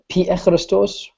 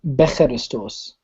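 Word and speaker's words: Pikhristos: Abanoob's asking, so for clarification, would it be correct to pronounce Pi-Echristos or Becheristos? Yeah, in general, we're going to try to pronounce it as a P, because we're going to go with kind of the way that it's traditionally taught in church.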